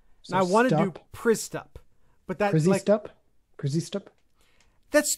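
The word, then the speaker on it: Przystup: William Pristup.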